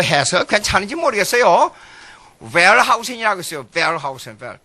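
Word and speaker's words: Wellhausen: 웰하우센. 독일어는 W로 V라고 발음하니까. 영어로는 웰하우센이에요.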